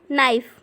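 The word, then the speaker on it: knife: कम चाकू है इंग्लिश में इसको बोलेंगे हम नाइफ ओं कि के साइलेंट होता है जिसमें नाईट बोलने को बोलते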